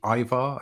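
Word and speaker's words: Eivor: I mean, I just think when I heard those words, gameplay reveal, I was expecting to see Ivar, I think is how you say it. Yeah, Ivar, yeah.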